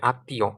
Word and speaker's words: আত্মীয়: অর্থাৎ ম টা উচ্চারণের সময় কি বাতাস কিছুটা নাক দিয়েও বের হবে। আত্মীয় আত্মীয় দেখছেন আত্মীয় কিন্তু বাতাসটা বের হচ্ছে পদ্ব পদ্ব কিছু ক্ষেত্রে